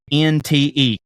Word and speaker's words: queynte: Published around 1400 with the original spelling Queynte, Quinte. Pronunciation would be closer to Kent than quaint.